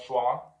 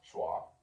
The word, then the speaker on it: schwa: The schwa sound is the most common sound in English. I don't know why it's called schwa. It's not pronounced schwa.